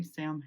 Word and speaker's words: Samhain: It's a pronunciation because everybody knows this one is spelled weird. Those M's kind of throw everybody off. I say sin. Some people say sin. And even strangers, some people say Sam hanging, which is fine.